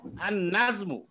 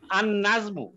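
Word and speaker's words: النجمُ: উপরে তাস দিতে হবে আন নাজমু আন নাজমু এখন লামের উচ্চারণ হচ্ছে না আন নাজমু আর শেষে তো মারেফা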